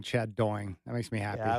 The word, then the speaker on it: Doing: and apparently there were a couple of people who butchered my name. Chad Doying. I've gotten that a few times in my life. I just love to think about Chy saying Chad Doing.